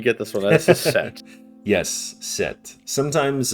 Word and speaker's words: Set: Uh sometimes a sutek or set uh set sometimes Seth as well uh or spelled like Seth but still said set which is interesting kind of the silent H is sometimes just tacked on there.